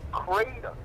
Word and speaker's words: kratom: And it's pronounced kratom.